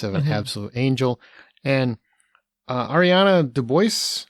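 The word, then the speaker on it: Ariana DeBose: And Ariana DeBois, I believe is how you say her name.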